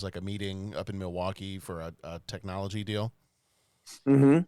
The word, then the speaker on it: Milwaukee: In fact, Milwaukee is actually pronounced Milwaukee, which is Algonquin for the good land.